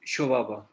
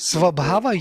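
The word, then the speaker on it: स्वभाव: which difference is with Shobhava? Shobhava. What is that? You say Shobhava is an essence, isn't it? Oh, Swabhav. Maybe You talk about my Swabhav. pronunciation is Svabhava, you mean Svabhava. Swabhava. Shobhava, right?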